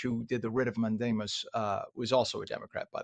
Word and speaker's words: mandamus: Yeah, I was reading the judge ordered a writ of mandamus, which is mandamus in Latin, and that's the way it's pronounced in Latin, is we shall command, or we command, and a writ meaning a letter.